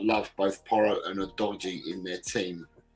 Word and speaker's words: Udogie: Udogi's surname before his parents made it easier to pronounce in Italian was Udogi. There. Okay. Udogie. There's an EH also.